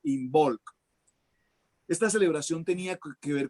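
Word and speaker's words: Imbolc: se llama en bolk que es una enol como suena inol lo pronuncio I latina m b o l c inol esta celebración tenía que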